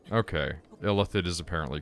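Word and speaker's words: Illithid: them now they are called I can never pronounce it's you listed correct okay Lillith it is apparently correct yeah illah thid slash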